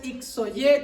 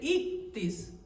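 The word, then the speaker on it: ἰχθύς: Eso no es ixoye como algunos dicen que se pronuncia. Ahí dice ictis.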